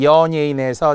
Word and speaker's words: 연예인: 예래는 예래로 발음한다. 따라서 연예인에서 니은은 올라가 연음이 되지만 연예인의 이중 모음을 기억하라는 거예요. 잘못 발음의 단모음 연예인 안 돼요.